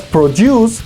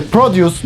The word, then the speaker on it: produce: Si la pronuncias produce, estás hablando de producir algo, es el verbo. Mientras que produce, nuestro noun, va a significar frutas y verduras.